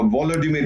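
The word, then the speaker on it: Володимир: यहां तक कि जो अमेरिका के राष्ट्रपति हैं, बहुत अच्छे इंसान हैं, उन्होंने कहा था वोलोडिमिर, जो व्लादिमीर है, यूक्रेनियन प्रोनाउंसिएशन व्लादिमीर, उसको कहा था कि आप छोड़ के चले जाइए।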